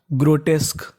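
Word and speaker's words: grotesque: meaning क्या बनी हमारी जी आरओ इसे क्या पढ़ेंगे ग्रो क्या पढ़ेंगे ग्रो टी ई एस इसे पढ़ना में टेस ग्रो टेस क्यू यू ई इस पूरे का उच्चारण होगा क क्या होगा क तो पूरी मीनिंग बन गई ग्रोटेक ग्रोटेक ग्रोटेक का मतलब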